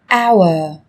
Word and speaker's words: hour: Trong tiếng Anh cũng có một số từ mà cách viết chúng ta thấy xuất hiện chữ cái h, nhưng khi phát âm thì chúng ta lại không cần phải phát âm này, người ta còn gọi là âm h câm.